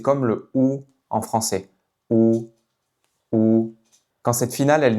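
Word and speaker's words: 五: Donc par exemple le chiffre 5 en mandarin se prononce ou ou.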